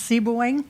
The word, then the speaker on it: Sebewaing: me how to pronounce it correctly it's uh pronounced seing you came very close very close very good